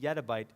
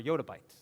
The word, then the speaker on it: yottabyte: Some people actually pronounce this yettabyte, but I prefer yottabyte, is what I prefer for the term.